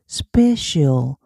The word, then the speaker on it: special: 그런데 C가 이때까지 우리 배운 거는 크로 배웠는데 여기서는 나 she 그래서 specicial specicial 돼요.